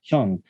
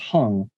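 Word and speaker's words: 형: be listening right now an age-old korean name for older brother hyung who upon immigration his fifth grade teacher pronounced hung baptizing him a new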